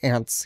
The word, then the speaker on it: aunt: my aunts aunts whatever we say ants here even though ant is a creepy crawly little bug thing insect whatever and we're not then pronouncing the u in the word but we just still